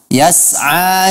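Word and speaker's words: يسعى: Kemudian pada kata yas'a juga saya mendengar ada sedikit qalqalah diucapkan oleh saudara Fadil Azman.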